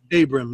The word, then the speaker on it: Abram: It was Abram, yeah.